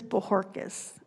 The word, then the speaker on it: Bojorquez: my last name is bojorquez the J is pronounced like an H okay would you please